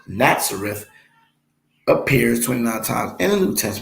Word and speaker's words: Nazareth: let me read that again nazareth complete correctly pronounced nazareth appears 29 times in the new testament we